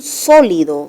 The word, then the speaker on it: sólido: Carece de un sólido. Sólido, el acento está en la antepenúltima sílaba. Entonces no debió tildarse en la penúltima.